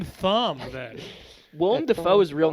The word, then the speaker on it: Willem: Willem Dafoe's real name is William Dafoe. Isn't that fucked? Yeah, but his name is pronounced Willem.